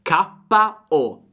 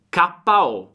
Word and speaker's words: KO: Attenzione alla pronuncia, all'italiana. KO, KO.